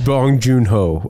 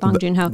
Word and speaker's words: Bong Joon-ho: Yeah, gosh, let's pronounce that. I always defer to Mitch. No. He retains names. I don't want to. Bong Joon-ho. Bong Joon-ho.